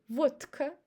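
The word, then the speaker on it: водка: The same with vodka. Vodka. We don't say vodka. It's very hard to say like this, but we pronounce t instead of the vodka and we say f instead of vka.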